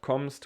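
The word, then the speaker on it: kommst: special to pronounce but comsto we have two m's and this is just like a also a strong m like comst we don't say communist with 2m but we just say a long and strong m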